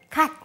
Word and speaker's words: gat: Mustard greens, just one syllable in Korean, gat.